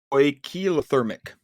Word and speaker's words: poikilotherm: There's homothermic and poikilothermic.